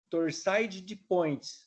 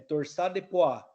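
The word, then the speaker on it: torsade de pointes: guardar isso para vocês não é chamada torçaide de põe é assim que se escreve mas a forma como que se fala é torsar de Poá em francês que eu tenho uma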